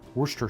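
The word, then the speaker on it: Worcestershire: has done here's our Worster sauce if you were to pronounce wor sauce phonetically it would have a lot of syllables you know a lot of people in the UK call it Worster sauce and some people put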